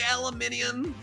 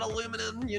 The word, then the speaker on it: aluminium: the people who say aluminium? I bet you say aluminium and not aluminum, No, I do say aluminum only because that's how it's spelled here in the USA.